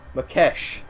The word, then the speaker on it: Makesh: I'm gonna try and say that name properly. Makesh. There we go. Makesh. That's how you say it, guys.